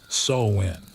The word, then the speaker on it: Samhain: Samhain pronounced Samhain.